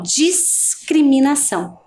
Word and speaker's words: discriminação: Já na palavra discriminação, a gente consegue perceber mais facilmente, né? Ó, discriminação.